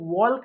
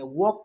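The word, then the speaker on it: walk: इसे हम लोग वॉल्क नहीं पढ़ेंगे, वॉक पढ़ेंगे।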